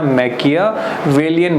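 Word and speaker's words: Machiavellian: इसका प्रोनाउंसिएशन ध्यान रखना, मैकियावेलियन बोलते हैं इसको।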